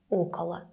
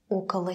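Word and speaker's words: около: so you see in all these cases it's pronounced as Ocala Ocala Casa Alcala de Rugy cooler weather so I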